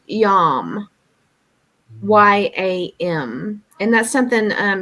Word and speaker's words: yam: and it is pronounced yam y-a-m and that's something um you can chant to help uh balance the heart chakra it would be something like yum do you think